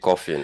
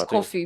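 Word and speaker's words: Koffee: I was tempted to actually pronounce the way she pronounced it. That was toast because you want you want to call it coffin and all of that, right? Her name is coffee with a K.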